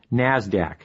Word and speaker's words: NASDAQ: Stock Exchange nysse and the NASDAQ which is pronounced NASDAQ NASDAQ stands for the National Association of Securities